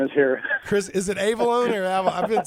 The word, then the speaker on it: Avellone: Chris, is it Avellone or I've been saying Avellone. Avellone calling. It's Avellone, but actually, yeah. You know what? I like your pronunciation better.